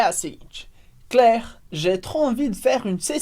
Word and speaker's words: Claire: super importantes do francês primeiro que as letras i como Regra geral vão dar o som é como se fosse em português escrito e é por isso